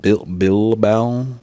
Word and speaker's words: Bilbao: Bilbao pronunciation.